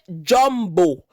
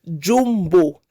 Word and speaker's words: Jombo: My name is Uche Jombo and not Uche Jumbo. Let it be clear.